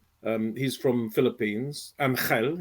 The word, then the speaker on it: Angel: my husband and I, Angel and I. He's from Philippines, Angel, if you want to pronounce it in the Spanish way, but we say Angel in English.